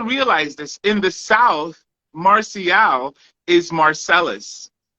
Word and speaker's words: Marcial: My name is Marcial. But in English, I like it to be pronounced Marcial, right? So I Anglicanize it, Marcial. I hated Marshall until I realized, you know what? I'm not going to stress it. It's okay. You can call me Marshall.